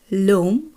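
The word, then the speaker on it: l'homme: হলে আমাকে বলতে হবে লোম, অর্থাৎ এল অ্যাপোস্ট্রোফ। ফরাসি ভাষার ক্ষেত্রে যেহেতু আস এর উচ্চারণ হয় না বা আস সাইলেন্ট থাকে, তাই পরবর্তী বর্ণটি যদি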